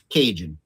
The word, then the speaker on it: Cajun: Et comme d'habitude, les Anglais qui veulent mal prononcer tout quelque chose, Cajun? Oui, Cajun. Oui, c'est ça. Mais vraiment, c'est Cajun.